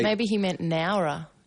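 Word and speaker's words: Nawra: N A W R A is Nara.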